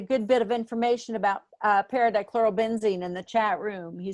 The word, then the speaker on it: paradichlorobenzene: And someone is going to have to pronounce the ingredient that we want, because I Paradichlorobenzene.